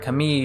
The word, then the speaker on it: Camille: they don't say the they don't say the l like in english so that's um so